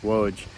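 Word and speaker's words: Łódź: I'm here in Loads or actually as the locals pronounce it here, it's more like Woj in the Jewish cemetery.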